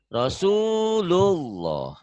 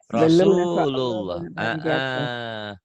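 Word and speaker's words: رسول الله: Rasulullah. Jadi jangan Rasulullah, jangan Rasulullah. Ya Maci. Rasulullah. Kenapa tebel? Karena sebelum lafaz Allah ini barisnya di atas.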